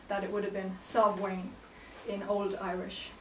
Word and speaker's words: Samhain: In modern Irish, it's Samhain. But it's thought that it would have been Samhain in Old Irish, like more like a V sound rather than the way we pronounce the MH now.